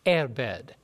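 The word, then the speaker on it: עֶבֶד: And when you look at this word bondservant in the Hebrew, it comes from the word, it's spelled E-B-E-D, but it's pronounced erbed, meaning it has a connotation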